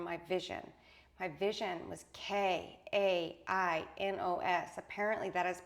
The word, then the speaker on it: Kainos: My vision was K A N O S. Apparently that is pronounced kanos like e like the sound of the name Elena.